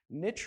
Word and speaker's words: niche: a person specialized till your special niche rhymes with rich for a reason you're